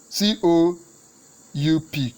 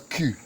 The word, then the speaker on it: coup: It's C U C O U P C. It's not coup it's pronounced as Q, right?